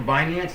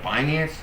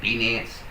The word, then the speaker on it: Binance: binance to you like binance like he even pronounced it correctly I remember when I first got in crypto I pronounced binance wrong like bance um and I was